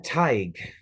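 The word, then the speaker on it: Tadhg: good plate of pancakes I'm tied that's spelled t-a-d-h- uh G it's Irish um on what are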